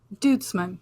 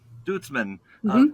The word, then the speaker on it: Duitsman: how do you say your last name dudesman dudesman Abbotts flowers another really long-standing great operation in